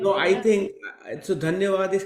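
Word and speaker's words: धन्यवाद: Dhanyavad is correct.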